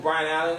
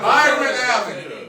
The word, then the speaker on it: Byron Allen: Y'all know who Brian Allen is? Yeah, I know Brian Allen. Never- Hold up, Byron Allen.